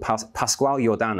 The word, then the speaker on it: Pascual Jordan: there was another pioneer in quantum mechanics called Pascual Jordan, I believe his name is pronounced, who was a defender of positivism, pioneer